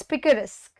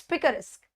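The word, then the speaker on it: picaresque: है, किसका एग्जाम्पल है, क्या वो पिकारिस्क, इट्स पिकारिस्क, पिकारिस्क प्रोनाउंस करिए, इट्स पिकारिस्क।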